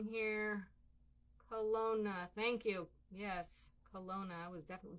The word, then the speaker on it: Kelowna: Yes, Kelowna.